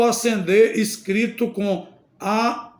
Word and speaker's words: acender: s o bom senso outro exemplo acender no sentido de atear e acender no sentido de subir pronúncia é igual Mas a escrita é diferente acender no sentido de atear